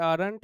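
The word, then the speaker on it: Arndt: इसका नाम होता है आरंट डी साइलेंट है, आरंट एस्टर्ट सिंथेसिस।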